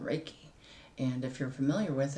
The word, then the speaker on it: Reiki: what I'm doing is a little thing called raiki and if you're familiar with it awesome if